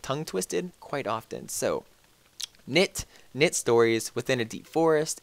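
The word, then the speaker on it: Knytt: I say Knit because it's K-N-Y-T-T. Just makes more sense. It's easier to roll off the tongue.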